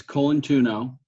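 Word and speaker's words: Colantuono: yeahoo okay Soo colano okay it's col tuno col tuno okay correct col tuno High Smith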